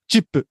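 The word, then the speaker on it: チップ: me and he goes chip. Which is how you pronounce tip in Japanese.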